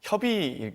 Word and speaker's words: 협의: 이 당 대표와 원 대표가 합의할 사항이라고 말씀하셔서 협의일 것 같습니다. 협의, 예. 네. 합의라고 발음하셔서 네, 네.